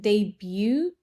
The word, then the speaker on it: debut: But I think it's a good debut. Is it? Yeah, it's her debut, and I Debut, think friend. Don't pronounce the T.